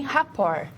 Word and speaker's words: rapport: É um termo originado da língua francesa, se pronuncia assim, rapport.